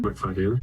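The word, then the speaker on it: Macfadyen: Matthew McFaden or McFaden. I'm not sure how to pronounce his last name. McFadian.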